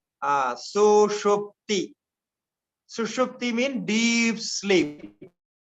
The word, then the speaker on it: Sushupti: Sushupti. May be difficult for you to pronounce. Sushupti.